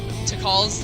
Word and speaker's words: Tikal: Which I know Vinny admitted that he pronounced Tikal's name wrong the first couple of times. I never did. I always knew her name was just Tikal.